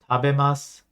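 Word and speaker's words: 食べます: What sounds off to you? For those of you that don't know, if you look at the characters on the screen, tabemasu, and you hear what I said, tabemasu, what sounds different? Yes, the U or the U is silent.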